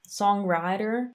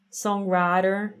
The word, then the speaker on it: songwriter: Se stiamo parlando dell'accento nordamericano standard, sarebbe songwriter. Non lo so, quello che ho sentito fino adesso è che mette l'accento della parola dalla parte sbagliata, songwriter, invece di songwriter.